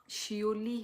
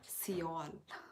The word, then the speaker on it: Seouli: वह मेरा टाइटल है आप मेरा नाम अच्छे से देखिए शिओली है मेरा नाम नॉट सील Monty hello Monty भाई